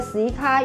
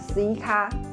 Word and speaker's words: Suica: ，以及关东地区的 Suica 与 Pasmo。